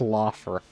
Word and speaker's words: Lothar: Yeah, apparently that's pronounced Lothar.